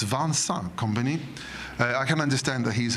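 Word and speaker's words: Vincent Kompany: Um, and you know, I understand that Vincent company or Vans company, I've just asked him how to pronounce his name. So, it's Vans company.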